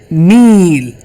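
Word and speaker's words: নীল: So, you guys I think you know the river Nile. You It's not like a river Nile.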